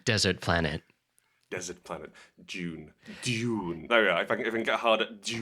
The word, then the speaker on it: Dune: call it gene well i pronounce the i pronounce the movie we're going to muff d-o-o-n dune let's move dude your is